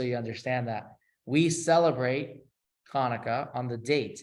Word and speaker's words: Chanukah: Chanukah has two syllables, Chanukah.